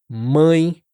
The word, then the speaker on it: mãe: Bom, hum, todas essas palavras t uma vibração que acontece aqui, ó, perto do nariz. E muitos falantes em inglês acabam pronunciando esses sons eh de forma mais oral, sem essa nasalização.